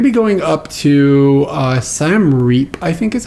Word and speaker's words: Siem Reap: are going to be going up to uh Sam reap I think is how you pronounce this and the this town is like